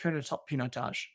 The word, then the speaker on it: Pinotage: We hit the 3-minute mark, and so Roloff goes very good, but it's pronounced Pinotage, and so that's pretty funny.